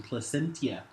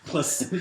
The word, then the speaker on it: Placentia: It's canned by the brewery in Placentia. Is that how you say it? Placentia. Placentia, Placentia.